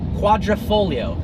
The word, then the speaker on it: quadrifoglio: four leaf clover and it's pronounced like it's spelled if you took out the gee I don't know why